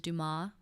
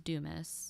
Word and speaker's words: Dumas: been saying it wrong it's on the French version is do ma and then my name is Dumas okay and then I